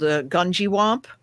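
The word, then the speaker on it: Gungywamp: Um there's a place in Connecticut called Ganjiwamp and I am not mispronouncing that. That is actually how you say it. Wait a minute. I got the cleaver. Uh Ganjiwamp.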